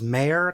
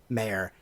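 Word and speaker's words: Mare: Emily yeah I believe the original actors I think you say her name is mayor because it's spelled ma re I can't imagine it wouldn't be mayor Winningham who I think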